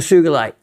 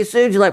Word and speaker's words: sugilite: fire agate and the sugilite. See that? It's easy to slip up and say sugilite, but no, it's a hard G.